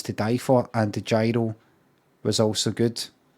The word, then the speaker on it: gyro: There's no gyros in the Greek lexicon. I would never fucking say that. I would never say that, mate. I would never say that. I would go with your pronunciation every fucking time. As the Greek dictionary. It's all ye, ro, you gotta roll your R's when you...